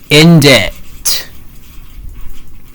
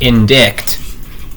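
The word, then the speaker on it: indictment: Uh, the word is inditent. Well, some people mistakenly pronounce it as indict, although the C should be silent.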